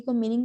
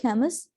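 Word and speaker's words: Camus: तो इस तरह से एक बंदा था एल्बर्ट कैमस, इसको कैमू भी पढ़ते हैं, लेकिन आई am more comfortable in the pronunciation of कैमस, तो मैं इसको वही कंटिन्यू करूंगी।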